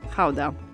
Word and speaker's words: Gouda: So since we're talking about authentic Dutch cheese, we're going to call it Gouda. The cheese takes its name from the city of Gouda in South Holland.